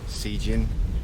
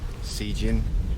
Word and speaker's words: Cijin: Cijin. Say it correctly. Cijin. Say it correctly. Cijin. Say it correctly. Cijin Island. Thank you so much. If you don't say it, just say it right.